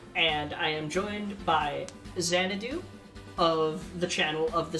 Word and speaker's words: Xanadu: i am joined by xanadu of the channel of the same name uh apparently the x is silent i learned that today i don't know about